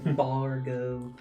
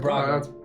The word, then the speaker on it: Brago: Bargo. That's right. Brago. Yeah, Brago. Brago. No, I'm gonna have to change. That's what changed. The R changed the placement.